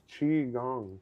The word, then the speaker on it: Qigong: pronounced Qi Gong.